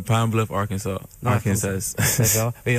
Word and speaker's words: Arkansas: C'est Pine Bluff, Arkansas. Pine Bluff, Arkansas. Arkansas. D'accord. Et on prononce pas le S à la fin, c'est ça en anglais normalement.